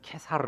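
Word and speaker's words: Caesar: 때문이다 가 이사는 누굽니까 가이사 는 라틴어로 읽을 때는 케사르 라고 읽어요 영어로 읽을 때는 c 점입니다 c 저나 캐 살아나 같아요 라틴어 식으로 있냐 영어식으로 임야에 따라 다를 뿐입니다 그니까 로마의 황제 씨저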